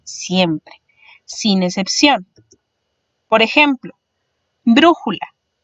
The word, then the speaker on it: brújula: Por ejemplo, brújula. Brújula se divide en 3 sílabas, siendo bru su sílaba más fuerte.